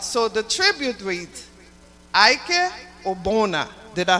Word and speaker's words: Ogbonna: All right, so the tribute reads, IK Ogbonna.